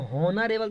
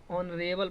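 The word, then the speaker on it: honourable: ए हो जाएगा नरेल इसको होनरे बल थोड़ी पढ़ेंगे नरे बल पढ़ेंगे क्या पढ़ेंगे नरेल ओ तो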